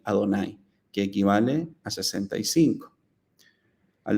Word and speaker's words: Adonay: embargo como explicábamos anteriormente este nombre solo está escrito en el texto pero al leerlo está prohibido pronunciarlo y en su lugar se debe leer como si estuviera escrito allí adonay que equivale a 65